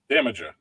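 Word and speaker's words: Damaja: Damager.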